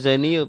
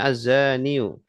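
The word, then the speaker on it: الزاني: Ya, zaniyu bacanya. Ya, Wazaniyu ya. dan Pak pezina. zaniu. Isim fa'il dari zana yazni. Zanin. Zaniu. Nah, kalau nggak ada alnya dia dibaca kasroten ya. Zanin. Kalau ada alnya azaniyu.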